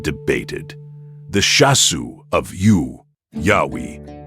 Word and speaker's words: Yahweh: The name YHWH pronounced Yahweh and Midianite origins, the divine name YHW, Yahweh.